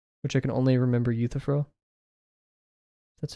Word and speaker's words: Euthyphro: He also encouraged me to read Plato's Dialogues, which I can only remember Euthyphro. That's how you pronounce it.